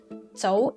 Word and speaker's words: Tso: mandarin pronunciation of name Tso is the Cantonese pronunciation many Chinese immigrants to